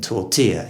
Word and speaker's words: tortilla: talk about is tortilla where we have adopted the spanish pronunciation tortilla you'd have thought if we had guerrilla we'd have tortilla but it's not the